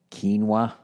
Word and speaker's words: quinoa: And of course, for lunch, I've already made my quinoa.